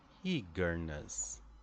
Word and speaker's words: eagerness: of stress organization so in the word eagerness for example the first syllable is the stress e eagerness eagerness can you repeat with me eagerness right so we have one strong syllable followed by true lighter syllables eagerness right uh what